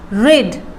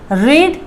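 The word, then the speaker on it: read: Same होगा, ध्यान देना, बट इसकी जो प्रोनाउंसिएशन है वो थोड़ा सा चेंज होगा, जैसे कि रीड, रेड, रेड, ए का साइलेंट, ए को साइलेंट कर दो तो क्या होगा, रीड, रेड, रेड, but spelling will be same and रीडिंग।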